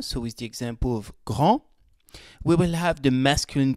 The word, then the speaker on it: grand: in the masculine form, I did not pronounce the D in Paul est grand, the T in il est fort, and the S in il est gris. But when I add an E at the end, then I pronounce them.